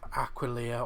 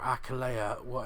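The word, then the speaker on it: Aquileia: yeah i've heard about aquilia or acalea however you want to pronounce it i heard that attila's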